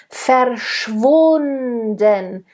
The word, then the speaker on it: verschwunden: Verschwunden, schwunden, v, as in village. It's a voiced v. Verschwunden. Make sure it's nice and voiced.